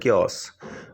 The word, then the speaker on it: chaos: क्योस, CHAOS, pronounced as क्योस, अव्यवस्था।